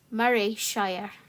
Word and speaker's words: Morayshire: aberin here I'm in morayshire pronounced Murray Shire like sir Andy Murray your dream is to